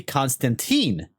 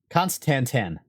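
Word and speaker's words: Constantan: going to say Constantinople so it must be Constantine named after Constantine no no it's conanan constanten that sounds weird anyway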